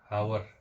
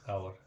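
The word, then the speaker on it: hour: एक और देख दोस्तों इसके साथ आवर हावर आपने लोगों के मुंह से सुन आवर आवर भी सुना होगा हावर लेकिन असल में यहां पे भी एच हमारा साइलेंट होता है और हम इसको बोलते हैं आवर आवर मीन्स होता है घंटा ठीक है हावर हावर नहीं आवर हमें इसको बोलना है एक होता है दोस्तों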